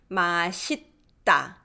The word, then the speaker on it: 맛있다: 맛있다. Because I'm trying to pronounce this double shot underneath, put my tongue there, and then say 다, which makes it a little more tense.